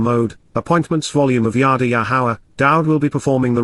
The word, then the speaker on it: Yahowah: Yahawah, Yahawah, the proper pronunciation of Yahowah, our Eloah, God, as